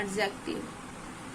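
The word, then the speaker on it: adjective: knowledge bride pride ऐसे यदि डी के बाद जे आ जाए तो डीजे में जो है डी साइलेंट हो जाता है जैसे यहां पर दिया है एडजेक्टिव एडजेक्टिव में क्या है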